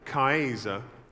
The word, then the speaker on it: Caesar: 2,000 years later, the word Caesar, which would have been pronounced Kaiser, was still being used by the Germans for their leader.